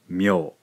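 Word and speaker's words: みょ: Mi and yo, combine these syllables, we end up with myo, myo.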